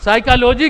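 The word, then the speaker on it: psychology: لکھا جا رہا ہے، سائیکالوجی کی اسپیلنگ کیا ہے؟ ایک پی شروع میں لگا ہوا ہے، پی تو پڑھا نہیں گیا، پی کے بعد ایس لگا ہوا ہے، پی سائلنٹ ہے۔ ارے تو سائلنٹ ہے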